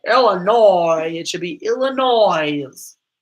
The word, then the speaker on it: Illinois: I like how the Midwest pronounces things like Illinois. Illinois. Like, if you're going to be French about it and have a silent S, it should be Illinois.